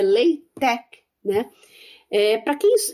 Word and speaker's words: LaTeX: eh o ltech né a gente fala látex latex aqui no Brasil né porque se escreve l t e x mas a pronúncia correta é leit tec né Eh para quem